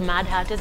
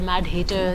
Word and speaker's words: Mad Hatters: I'm glad you pronounced it the Mad Hatters, because sometimes people call it the Mad Haters or the Mad Haters.